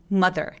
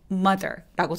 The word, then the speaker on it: mother: 발음이 어떻게 할까요 th인데요 th 할 때 mother 이거 마더아라고 소리내는 것보다는 되게 빠르게 소리 나서 mother mother라고 소리가납니다 다시 한번 해 볼까요